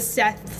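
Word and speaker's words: Szeth: was at a birthday dinner and I went Seth with a z Seth with a z made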